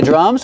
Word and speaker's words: drum: Pronunciation, you see the DR together make the j sound like juice and jump. Plus the R sound, dr, drum. 1 drum, 2 drums. Use the short sound like cup and up.